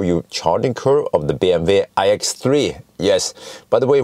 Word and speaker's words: BMW: charting curve of the bmv ix3 yes by the way why do i call it bmw or false bargain because that's the correct name that's the correct pronunciation in the german way yeah so i actually